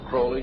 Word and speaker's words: Crowley: about was aliser Crawley he likes to have his name pronounced Crawley to rhyme with holy and uh the satanists